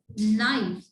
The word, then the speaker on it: knife: The next one sentence is please give me this knife. Look at here. I tell you that when K comes before and, so K will be silent.